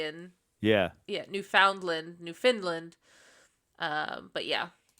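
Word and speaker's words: Newfoundland: we started talking and she's like yeah it's New Finland New Finland like she made sure that I kept saying it correctly in yeah yeah New Foundland New Finland um but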